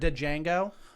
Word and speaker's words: Django: 2 think- tickets for Django? And you're like, dude, it's in the trailer. He literally says the D is silent.